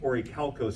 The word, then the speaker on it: Orichalcos: And then when you have to, cram in an understanding of not only what your card does, but it's pronounced orichalcos, and you're like, what?